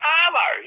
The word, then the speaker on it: arvo: Yeah, but after has an F. That has a V. Yeah, because you just say Arvo. You got Arvo.